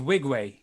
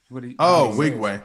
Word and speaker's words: Nwigwe: He does right, but he says Nwigwe. I heard him say on an interview that he doesn't like when people get his name wrong. That's cool. I mean, Tobe Nwigwe. We said that. Tobe, I said it right. Nwigwe. The N is silent. Nwigwe.